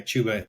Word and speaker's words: Chuba: Chuba? Yeah, Chuba, he's a good one.